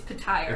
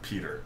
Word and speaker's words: Petyr: It's Puh-tyre. It's Petyr. Come on, Tyrion. It's the same T-Y-R.